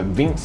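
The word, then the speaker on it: Vyncs: know how to say it it's called the vinx it's like v-y-n-c-s it's a pretty good i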